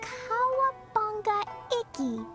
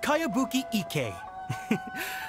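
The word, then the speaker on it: Kayabuki Ikei: By Kawabunga Iki. Yoimiya, this is a really strange... Who's this Kawabunga? It's pronounced Kayabuki Ike.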